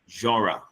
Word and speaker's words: genre: By the way, that word is pronounced genre.